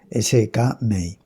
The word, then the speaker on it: Skmei: Y bien, eh, es cierto que que bueno, se pronuncia de varias, normalmente se dice eh en español SK May e que en realidad la MEI de SK